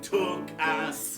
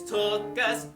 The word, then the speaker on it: Tuchus: you have a shapely took ass. No, Scotty, it's Tuchus, T-U-K-H-U-S. Tuchus, Tuchus, Tuchus, Tuchus. Each Tuchus I hold dear to me for certain reason. No Gentile can pronounce the H, but for Jews.